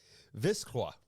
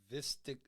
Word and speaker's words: Vistiq: God, We decided a couple grown men fighting over syllables here, but yeah, this is how we've come to we've decided it's called Vistiq.